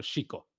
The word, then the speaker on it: Xico: Que la X se pronuncia mucho como J también, ¿no? En el español, como ¿Correcto? debe ser, Ujú. pero en el náhuatl se pronuncia más como Chico.